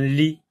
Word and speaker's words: lit: Un lit. Lit pour enfants. Lit. Et la lettre T ici ne se prononce pas.